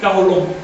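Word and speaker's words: Qaholom: Da primero cuatro nombres que son, todos se pronuncian agudos hasta donde yo sé. Si alguien me puede corregir, adelante. Se llama Sacol, Vitol, Alón y Cajolón.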